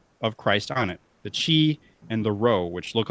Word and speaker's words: chi: In Greek, the language of the New Testament, the word Christos, or Christ, begins with the letter X, or chi, which is spelled C-H-I, so I'm saying chi.